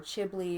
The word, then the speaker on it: Ghibli: I wanted a Ghibli. I wanted a Ghibli or Chipley or however you want to pronounce it, depending on where you're from.